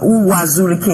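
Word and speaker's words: Uwazuruike: I mean, I don't know if I pronounce it. Uwazurike, yes, that's his name.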